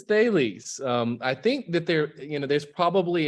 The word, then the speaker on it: Thales: Is it Thales? How do you guys pronounce it? It is Thales.